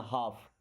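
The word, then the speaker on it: half: देखिए यहां पे एल साइलेंट होता है ना? हाफ नहीं बोलना। हाफ।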